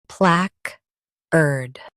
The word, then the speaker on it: placard: PLACARD. Emphasize plaque and soften ard.